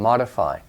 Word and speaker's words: modify: understand it but just know that mode is long Oh mode but it becomes short and modify modify mode modify it's not important that